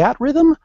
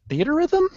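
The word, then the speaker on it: Theatrhythm: at Rhythm I'm like do you mean theater Rhythm but he hasn't wasn't hearing anybody in Japan pronounce it any other way so he was calling it The at Rhythm kind of like it's a a preposition it doesn't make any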